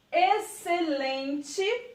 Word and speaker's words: excelente: E na verdade não é, porque o X ele está aqui, ó, escondidinho, mas ele não é pronunciado. Então fica exceto, excitante, excelente e excesso.